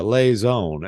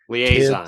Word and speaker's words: liaison: is the perfect uh lay Zone and I think I'm pronouncing that word correctly the perfect lay Zone in lock room between liaison liaison I was close dangerous at least at